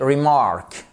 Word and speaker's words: remark: Par exemple, a witty remark. Remark, accentuation ici sur la seconde syllabe.